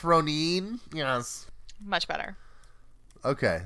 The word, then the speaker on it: Ronan: this is ro and somebody once said that it's pronounced Ronin Ronin right someone said that in the comment section but I don't I don't buy that I vote I have every